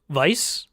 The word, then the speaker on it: Weiss: earlier like yang and vice i think are the other two right though they pronounce it weiss because they're american um yeah what the